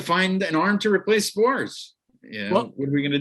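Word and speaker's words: Sborz: I'm going to butcher how you pronounce his last name, but Josh Spores. Oh, Spores, yeah.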